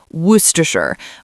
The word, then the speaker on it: Worcestershire: It's pronounced Worcestershire.